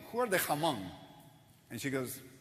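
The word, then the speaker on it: Hmong: to her so tell me who are the Hong and she goes goes it's m the age is silent he goes oh whatever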